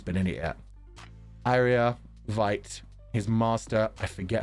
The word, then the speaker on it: Veight: is hard to read I had to look up the Japanese pronunciation of vite's name to make sure it was white rather than vate the himbros look hilarious